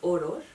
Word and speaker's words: Օրօր: So in Armenian it's like the literal word for lullaby is Orår. Orår. So see, it's like two syllables and it repeats.